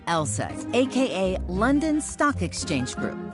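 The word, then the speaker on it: LSEG: be a bit misleading take ours for instance pronounced LSAT AKA London Stock Exchange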